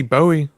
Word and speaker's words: Bowie: You don't hear a Bowie knife? Bowie. It's Bowie. It's spelled the same. Like space. I mean, sorry. Like David Bowie.